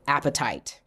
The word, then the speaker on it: apatite: One is blue apatite. I love apatite, and it's spelled just like hunger, appetite.